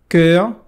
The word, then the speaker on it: cœur: Ton, que significa teu, e cœur, olha só a pronúncia, cœur, que significa coração.